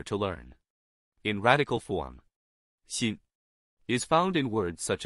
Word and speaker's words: 辛: In today's video, we'll teach you the Chinese character for suffering, pronunciation. Xin.